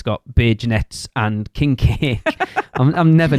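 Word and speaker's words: beignets: I mean, to be fair, until we found out how you pronounce them, we used to call them big nets.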